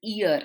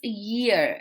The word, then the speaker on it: year: We think the pronunciation of this word is ear, like ear. No, it is not. It's year.